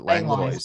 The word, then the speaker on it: Langlois: So Langlois, you pronounce it Langlois. We do say the S.